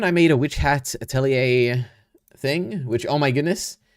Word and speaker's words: atelier: one point in the anime, and they said atelier, and I was like, okay, that's how I